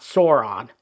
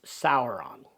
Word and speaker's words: Sauron: And it's not Sauron, it's Sauron.